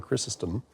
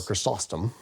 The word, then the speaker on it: John Chrysostom: And depending upon where you're from, it's sort of like tomato. So St. John Chrysostom, or Chrysostom, depending on how you pronounce it.